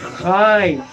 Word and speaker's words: Chai: Chai se escribe, se pronuncia Chai.